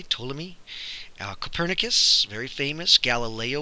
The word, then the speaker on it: Ptolemy: are told me and that P is silent by the way Ptolemy now Copernicus very famous